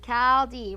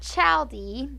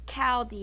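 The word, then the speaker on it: Chaldea: Chaldee. Ready to begin. Chaldee. It's not Chaldee, even though it's spelled like that. It's Chaldee. It's pronounced with the K.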